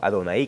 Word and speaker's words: Adonai: Ojo, Adonai con acento en la I, para mostrar el Señor, para mostrar que Él es el Señor.